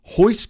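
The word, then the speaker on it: Royce: career Journey Etc is the RS are pronounced like H's so horon is actually R Hixon is actually r i k hoist is actually Ro IC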